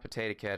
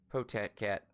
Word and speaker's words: Potat Cat: It's not Potato Cat. It's Potat. Potat Cat.